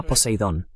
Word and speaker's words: Poseidón: Sí, lo pronuncias correctamente, se llama Poseidón.